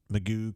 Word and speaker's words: McGough: dealership here used to be called Magoo. Not that way, but MCGOUGH, and you call it Magoo can do it, can do Magoo.